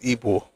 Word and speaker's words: Igbo: And um no, no, the pronunciation is Ebo, but the spelling should be evil.